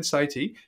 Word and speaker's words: Sethi: of interest, Ramit Sethi, even though it's spelled Sethi, I'll try and get it right, Ben, Sethi, him and Morgan Housel have the same philosophy.